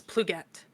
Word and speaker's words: Plogette: The correct way to pronounce it is Plugette.